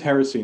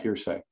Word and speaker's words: heresy: real good job anyway it is heresy now it's not hearsay oh what is it heresy heresy unless that unless you're just mispronouncing it it's let's say how do you spell it h-e-r-e-s-y there's there's an exclamation